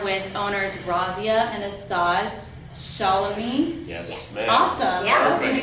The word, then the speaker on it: Shalami: Shalami. Yes, ma'am. Awesome. Yeah, Perfect. you got it. Perfect pronunciation.